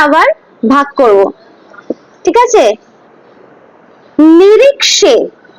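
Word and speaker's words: निरीक्षे: নিরিক্ষে, খ হয় না, নিরিক্ষে, ঠিক আছে, মানে এন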